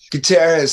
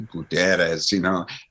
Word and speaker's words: Gutierrez: Everybody, it's California, so people say like Gutierrez Street, and it's like actually Gutierrez, And I mean, you